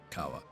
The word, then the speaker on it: Hijirikawa: It's Hijirikawa, right? Masato Hijirikawa. Yeah. It is Hijirikawa.